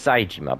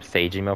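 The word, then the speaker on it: Saejima: __ ] saying wrong it's saijima but I keep calling him Sage email for some reason I don't know that's just the way I learned to pronounce it that's just how I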